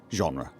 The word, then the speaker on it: genre: Genre, Felix, it's pronounced genre.